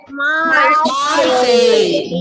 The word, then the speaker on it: Marseille: How will you pronounce it? Marseille.